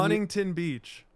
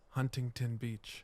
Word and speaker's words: Huntington Beach: pronounce I want to give away how I say it, but when Huntington Beach. really, Yeah, Huntington. you drop the T.